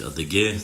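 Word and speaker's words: адыгэ: Правильно говорить адыге, но мы ссылаемся и говорим не черкесы, не кабардинцы, а говорим адыге.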